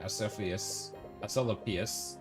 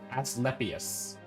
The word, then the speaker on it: Asclepius: Lord Asclepius. Nah. No, I'll say it right. Asclepius.